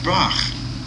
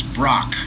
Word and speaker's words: Braque: Actually, my favorite cubist was Georges Braque. Yeah, that's how you pronounce it. Maybe it's Brock, There's no C-H-E there, I guess.